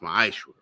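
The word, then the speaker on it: מעשר: It's pronounced, it means 10th in the Hebrew and it's pronounced ma'ashra.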